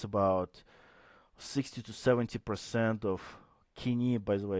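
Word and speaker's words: Koine: 60 to 70% of kini. By the way, it's I know uh some uh Americans would pronounce co, but it's a kini kini Greek kin common Greek uh vocabulary is about 60 to 70%.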